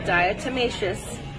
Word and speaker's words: diatomaceous: It's National Diatomaceous Earth Day.